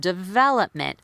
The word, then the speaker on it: development: it it's it's commonly people non-native speakers will commonly stress the wrong syllable is the word development I very commonly hear development so they'll stress the first syllable development instead of development so knowing which syllable